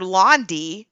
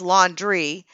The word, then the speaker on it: Laundrie: his own lawyer yeah his lawyer said Mr landi but it's laundry is not speaking on